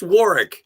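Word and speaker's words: Warwick: War Davis Warick right well it's pronounced Warick she was an Ewok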